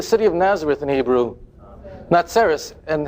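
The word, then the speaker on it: נצרת: Natseras.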